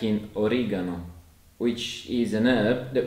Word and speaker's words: oregano: And you have to be a bit careful if you're a native English speaker, particularly in the UK, because we say oregano, whereas in Italian it's pronounced as oregano. And you can hear the hard G sound.